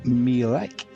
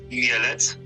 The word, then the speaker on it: Mielec: We've got coming up for you tonight Ekstraklasa match between Stal Mielec and Widzew Lodz. That's wrong. My Polish friend Adam, he knows how to say it. He kindly told me earlier on. Mielec.